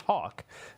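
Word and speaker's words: Haack: guy that uh is Matt Hawk it's pronounced Hawk um could very well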